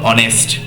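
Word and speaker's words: honest: নেক্সট দেখো অনেস্ট, দেখো অ উচ্চারণ হচ্ছে, তাই জন্য কিন্তু অ্যান হয়েছে, ঠিক আছে।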